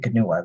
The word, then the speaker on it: Ganuwa: And so you pronounce, the name of their planet is Planet Ganuwa.